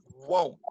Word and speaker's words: won't: And remember, the pronunciation we have to say won't, right? Won't. Won't. Right? Whoa. Won't. Yeah, notice the difference between look at my mouth, right? If I say won't, I make a little circle, right?